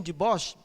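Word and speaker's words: Dubois: aqui Eugênio deboche né se a pronúncia holandesa Eugenio deboche em 1891 ele achou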